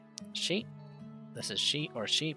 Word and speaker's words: し: し Sheet. This is she or she. Pronounce it as she, like in the word sheep.